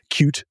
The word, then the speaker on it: Qt: pide 6 or Pi cute 6 QT is how it's spelled but cute is the framework it's very much a